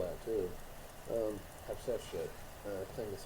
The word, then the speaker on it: Hatshepsut: I actually know how to spell that too. Hatshepsut.